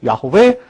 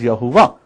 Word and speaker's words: Yahweh: Yahweh is a term for Yud-He Vav-He, which many people pronounce like myself, Yahweh. Some of you pronounce as Yahuwah.